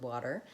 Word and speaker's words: water: out the word and the first thing I want to talk about is the are sound at the ends end of this word so in American English whenever we have an R we say the R sound so I'm gonna definitely